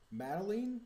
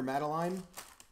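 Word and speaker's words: Mytilene: anything from it so Boone pronounces Mitylene like the old cartoon with the red-haired girl Madeline Madeline Madeline I don't I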